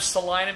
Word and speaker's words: Salina: a big fan of Salina because it rhymes with vagina but the thing is